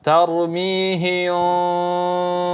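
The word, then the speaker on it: ترميهم: sini ikhfa syafawi ya, maka dijelaskan dengungnya tarmihim bi. Ya, cara bacanya ada 2 dengan membuka sedikit bibir tarmihim bi atau menutup sehingga berbentuk seperti huruf mim.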